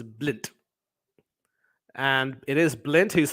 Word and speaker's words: Blind: I mean his name is of course spelled b-l-i-n-d but he definitely has good footballing Vision does